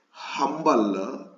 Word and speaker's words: humble: But here, humble, H is pronounced. It makes a consonant sound.